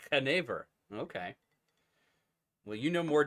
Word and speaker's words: genever: Never 100% sure how to pronounce this one. How do you say it? Genever. Genever.